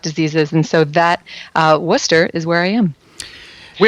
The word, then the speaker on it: Wooster: you look at the spelling but is actually pronounced we say worcester and located in worcester we're about i would